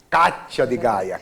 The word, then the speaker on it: Cathia D Gaya: Kátia de Gaia. Kátia, C-A-T-H-I-A, o D mudo, Gaia com Y.